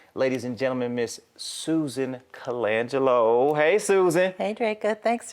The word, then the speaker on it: Colangelo: is working on ladies and gentlemen Miss Susan Colangelo hey Susan hey Draco thanks for having me good did I pronounce your last name right you did okay